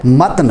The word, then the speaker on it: متن: ساتھ ہونا چاہیے: "قندیل"۔ اسی طرح، ہم اکثر "متن" (متن) کہتے ہیں، 'میم' اور 'ت' دونوں کا تلفظ فتح کے ساتھ کرتے ہیں، لیکن 'ت' پر فتوی لگانا غلط ہے۔ یہ دراصل "matn " ہے۔ اسی طرح،